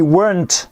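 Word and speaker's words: weren't: à l'oral avec la contraction ça fait we want à de cinéma attention encore oui attention à la prononciation de sewen note contracter il faut bien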